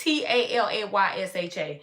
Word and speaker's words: Talayasha: And people call her Talasia. I don't know why, because it's Talayasha. They just got to drag her name all the way out. But it's in 3 syllables.